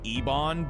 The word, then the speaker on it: Ebon: Dude, I know it's pronounced Ebon, but I just want to pronounce it Eben.